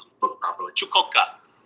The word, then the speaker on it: Chukotka: Chukotka. So no T. You don't pronounce the T very much.